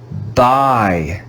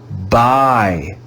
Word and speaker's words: buy: let's read it together buy buy buy we go to the store to buy some fruit b-u-y spells by the u is silent in this word you can see the